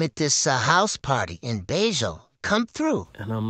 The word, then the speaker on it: Bello: And the word Bejo, it's pronounced, with the Medellin accent, how they talk, they pronounce double L's as a J sound. Like it's lloviendo, means it's raining, but that's L-L-O-V, but it's Joe, like the name Joe.